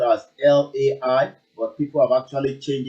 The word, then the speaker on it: Lai: Well, his name will always ring bell all the time, even though it's spelled as Lai, but people have actually changed it to Lie rather than the full name.